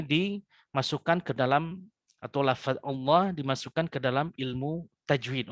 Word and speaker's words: الله: Wasallam ketika menyebutkan lafaz Allah, maka lamnya ini ditebalkan atau ditafkhimkan seperti itu. Yang asalnya kalau kaidah aslinya berarti Allah begitu ya.